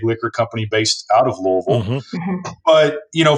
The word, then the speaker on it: Louisville: My parents are from Louisville, so we can get into the pronunciation of Louisville as well if we'd like to. Louisville.